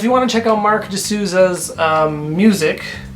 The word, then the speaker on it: Marq DeSouza: Yeah, so if you want to check out Mark D'Souza's music, it's spelled unusually, so you'll have to, if you're looking it up, you have to remember it's M-A-R-Q, it's Mark with a Q, and D-E-S-O-U-Z-A for D'Souza.